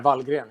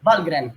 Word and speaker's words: Wallgren: Oggi siamo in compagnia di un ospite veramente speciale, Jocke Wallgren, how do you pronounce? Yeah, Wallgren is fine. Wallgren, Jocke Wallgren degli Amon Amarth.